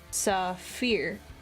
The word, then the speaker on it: saphir: Me, it's because in French sapphire is pronounced saphir or saphira.